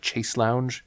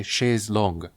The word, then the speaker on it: chaise longue: It annoys me the same way when people call it a chaise lounge. It is a chaise longue, a long chair.